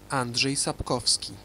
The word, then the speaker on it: Andrzej Sapkowski: by a Polish author and his name is pronounced Andre sap kovski he wrote a novel called The Witcher that's